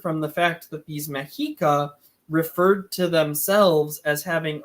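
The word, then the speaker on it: Mexica: people didn't call themselves azex they called themselves mahika and um the reason Scholars call them Aztec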